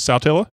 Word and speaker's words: Saltillo: Carl Phillips checking in Saltillo up there in Lee County I am saying it right nobody calls it south pillow it is Saltillo how you say it